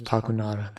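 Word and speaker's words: Pakunoda: Her name is Pakunara.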